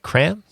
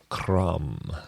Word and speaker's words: Kram: new album called cram am i pronouncing that right kram no you're not pronouncing it right how do you say that jerome crum yep okay it's uh hugs in swedish hugs that's a cool